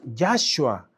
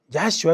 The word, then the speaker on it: Yahshua: Su nombre verdadero es Yahhua. Yahua es nombre.